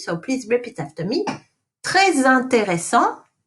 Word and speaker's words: très intéressant: Très intéressant. You link the très intéressant.